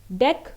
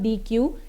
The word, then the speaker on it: deque: Deck basically is pronounced as deck only, it is not dequeue, and it stands for double-ended queue.